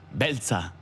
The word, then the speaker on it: Beltza: Beltza.